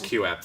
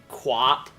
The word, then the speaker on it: QooApp: You want to use QApp for that. Q app? Yeah, it's spelled QOOAPP. Quap?